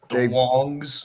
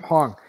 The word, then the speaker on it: Hong: Is it pronounced Wong? Hong. You know, don't ask me why I saw a W there. Okay.